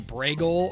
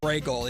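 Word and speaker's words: Brego: It's uh it's I there's always the pronunciation of it so people spell it differently, but it's like Bragel or something like that is how he says it. Bragel.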